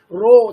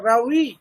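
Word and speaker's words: Raue: How can you pronounce R-A-W-E? Somebody will pronounce Roe, Charles Roe, this and that. No, you'll have to follow the Americans, the way they pronounce. That is Charles Rowe, William Borick.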